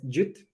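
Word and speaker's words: GWT: It's Google WebKit, but pronounced as Jute.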